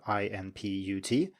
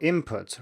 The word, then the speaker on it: input: like input for example it's spelled i-n-p-u-t but it's often pronounced as i-m-p-u-t so input rather than input now